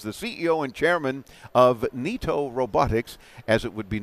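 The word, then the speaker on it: Neato: You say here, Niato Robotics, or we would know it as Nito, because it's spelled easily that way, N-E-A-T-O, like Nito, like we would say in our slang is, oh, Nito. Nito, absolutely. Nito Robotics.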